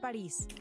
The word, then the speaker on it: Paris: In English, they pronounce it Paris, but everyone else pronounces it without the S sound, like the French though.